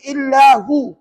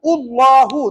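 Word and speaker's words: اللهُ: ni dalam Quran tuan-tuan jangan baca illahu Allahu tak boleh kena baca Allahu yang bawah Allahumma puanpuan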